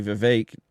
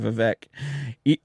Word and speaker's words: Vivek: He just said that his name was actually Vivek, and everybody's been pronouncing it Vivek this whole time.